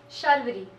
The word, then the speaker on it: Sharvaree: Pronounce it the way you do. Sharvaree. Sharvaree. There's like two R's in it, so Shar.